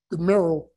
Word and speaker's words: Gamaliel: I remember Brother Mike last week had talked about, there was a passage in Acts chapter 36 or 5:36 about Gamaliel, that's how you pronounce the name.